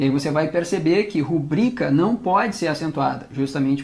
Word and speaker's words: rubrica: tá o detalhe aqui não é rúbrica é rubrica a sílaba tônica é a segunda ela é uma paroxítona terminada em a a